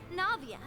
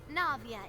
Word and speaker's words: Navia: case of Lenny's from you maybe and I Navia have the honor of being it renowned president